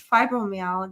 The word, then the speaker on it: fibromyalgia: It's fibromyalgia.